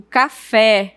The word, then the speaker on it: café: Já a palavra café e chapéu, você observa que o E ele é pronunciado de uma forma mais aberta. Eu digo café, chapéu.